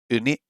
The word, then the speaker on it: ウニ: Let me just check out the pronunciation. Hold on a second. Sea urchin. How do we say sea urchin in Japanese? ウニ、 Uni.